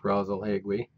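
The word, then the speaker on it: Rasalhague: that we learn the name of here is rosle hegu which is sometimes spelled as two words either way it's pronounced brazal hegui the name of this star means the head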